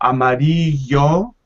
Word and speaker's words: amarillo: say okay okay amarillo in most spanish-speaking countries you will hear both the double l and the y like an e sound yeah so amarillo now i used to